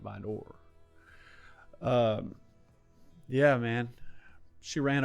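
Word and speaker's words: Vidor: Drive in VOR Texas I know how to say it it's vder but I like calling it by door um yeah man she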